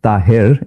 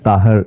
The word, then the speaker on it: Tahir: It's Tahir in Urdu and Taher is in Arabic.